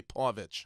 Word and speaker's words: Povich: I say Maury Povich, what's the right way to say- Povich. Povich, okay. Sometimes I say Paw-vich. I think you said Pavich in the hall.